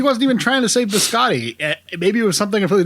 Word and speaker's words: biscotti: background noise chatter and i honestly don't know if nick cage doesn't know how to pronounce biscotti if he thinks the character of evan lake wouldn't know how to pronounce biscotti if paul schrader doesn't know how to pronounce biscotti and didn't see anything wrong with it i